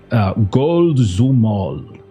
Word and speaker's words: Golzumol: Actually, let me double check that pronunciation. I think I wrote a note to myself in terms of how to pronounce that correctly. Golzumol. I was close. So it's like a longer zoo.